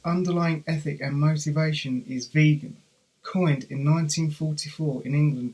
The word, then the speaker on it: vegan: He took the first 3 and last 2 letters of that word, but wanted it pronounced completely differently, vegan, to emphasise its revolutionary import.